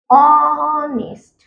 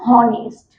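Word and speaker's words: honest: অনেস্ট, এটাকে অনেক দিকে না জেনে বলবে হনেস্ট।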